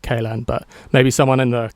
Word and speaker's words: Kalan: By the way, that might been Kalan, not Kalan, but maybe someone in the comments can put me right.